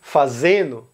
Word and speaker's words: fazendo: um O no final, a letra D ela desaparece. Então, para outros verbos também, fazendo, ele é pronunciado fazendo, mais naturalmente. Comendo é pronunciado comendo. Isso, é claro, não acontece com a mesma proporção em todas as regiões.